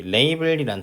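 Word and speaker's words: label: 자 그 다음에 우리 레이블이란 단어는, 여기 레이블은 라벨이라고 우리가 보통 한국에서 발음을 하는데, 레이블 A as B 형태로 나오게 되고요.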